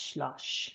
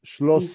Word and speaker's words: Schloss: So you're pronouncing it like sh, but it's just S.